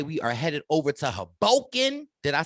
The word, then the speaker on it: Hoboken: Okay, we are headed over to Hoboken. Did I say it right, Wendell? Yeah, we're going to Hoboken.